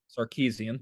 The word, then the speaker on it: Sarkisian: But I'm going to step on my own transition here and say that Steve Sarkisian, I cannot pronounce his name. Sarkisian, thank you, Soren.